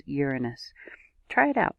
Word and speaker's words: Uranus: and yes my friends it has always been pronounced uranus not sure when the name was altered in today's society but it is uranus try it out say